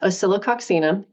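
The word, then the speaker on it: Oscillococcinum: on hand at my house so you've got osilo oxum yes that's how it's pronounced and I do know how to pronounce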